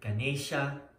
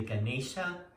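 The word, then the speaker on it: गणेश: Other words that get mispronounced a lot are like Ganesha. I mean, people say Ganesh or Ganesha. It's really Ganesha, and which will explain why it is today.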